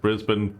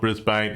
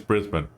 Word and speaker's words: Brisbane: Um, but uh it's pronounced Brisbane, folks, not Brisbane. If I swear, I swear, guys, if it's like this is not the DC Universe, just pour it out there. Okay, it's Brisbane.